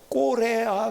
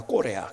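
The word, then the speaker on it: Corea: 뭐 또 남미에서는 우리나라를 K로 하지 않고 C라고 발음을 하죠. C 해가지고 꼬레아 그럽니다. 꼬레아, 그렇죠?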